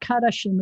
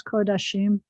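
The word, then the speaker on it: קֳדָשִׁים: going to get kodashim it's not karashin it's kodashim and then you're going to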